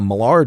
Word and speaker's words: Maillard: The D is silent, so don't call it the Maillard reaction. And it's not the Maillard reaction.